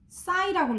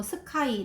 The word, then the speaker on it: sci: 얘는 sc가 스스 이런 소리 나기 때문에 이거 싸이라고 읽어야 돼. 이거 싸이. 이걸 뭐 스카이 이렇게 읽다든지 뭐 스키라고 한다든지 그러면 안 돼요.